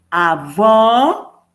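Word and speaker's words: avó: pero por ejemplo si yo digo u avo es abuelo y avo más fuerte y más abierta esa o es abuela la o también puede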